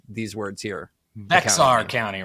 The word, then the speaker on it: Bexar: Antonio Texas and then how do you guys pronounce these words here Bear County right Bexar I was I already remember what I was told before Bear yeah it's Bear County I got it it's